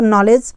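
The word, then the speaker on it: knowledge: वैसे तो यहाँ पर के भी साइलेंट है, लेकिन हम डी की बात करते हैं तो यहाँ पर जी के पहले डी आता है तो डी साइलेंट हो गया है, तो यहाँ पर नॉलेज पढ़ा जाएगा।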